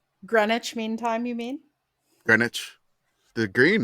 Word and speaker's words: Greenwich: Greenwich. The green, right? Mhm. It's in there. They are. They It is the Greenwich. It's not pronounced green.